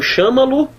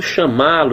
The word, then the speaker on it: chamá-lo: Porque a pronúncia toda é chamá-lo. Professor, estou lendo chama. Não, você não está lendo chama, não. Você não está lendo chama-lo, você está lendo chamá-lo.